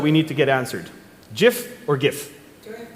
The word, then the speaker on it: GIF: GIF or GIF? Do I have to leave? GIF. GIF. GIF, because that's how the creator pronounced it.